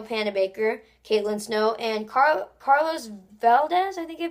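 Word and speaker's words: Valdes: It stars Candace Patton, Iris West, Daniel Panabaker, Caitlin Snow, and Carlos Valdez, I think I pronounce it, as Cisco.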